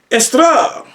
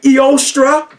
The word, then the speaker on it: Eostre: It looks like Eostra, but if you want to say it the Germanic way, it's estra. Estra, don't you hear Easter in there? You have Easter and you have estra.